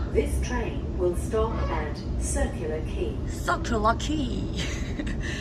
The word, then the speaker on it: Circular Quay: This train will stop at Circular Quay. Circular Quay.